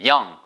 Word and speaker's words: young: young, y-o-u-n-g가 생긴 거는 요웅처럼 써있지만 young이에요.